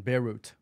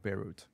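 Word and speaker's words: Beirut: the capital of Lebanon beut be oh the tea isn't silent there no it's not of course of course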